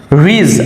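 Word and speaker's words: ridge: জি টি budget এখানে ডি থাকা সত্ত্বেও এর উচ্চারণ হবে না budget that means budget রিজ আর আই ডি জি রিজ রিজ means পাহাড়ের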